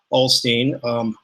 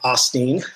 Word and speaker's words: Osteen: this controversy would Steve Alstine some people pronounce his last name Osteen I don't know when it became Osteen I was called them